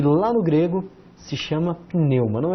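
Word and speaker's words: πνεῦμα: Começamos com um pi. Depois, olha que disfarçar, as duas letras se disfarçam, né? O N que se disfarça de V. Depois um epsilon, um Y, um M, um Mi e o alfa. Nós temos aqui o acento, sempre vai na segunda, pneuma, pneuma.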